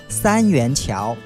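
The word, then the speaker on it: 三元桥: the line number 10 the right way to say the name of the station that we are going is Sanyuanqiao again Sanyuanqiao so now we are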